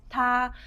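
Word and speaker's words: 他: So in this case, it's always pronounced ta. But when we write it down in characters, the character is going to change.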